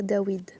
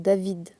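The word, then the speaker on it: דוד: Pourquoi on prononce le roi Dawid ? Parce que le W ici, cette lettre en hébreu aujourd'hui en hébreu moderne, ils appellent ça le va et le prononce V, donc David. Sauf que le va n'existe pas en hébreu antique. Le va en hébreu antique, c'est le wa qui se prononçait W.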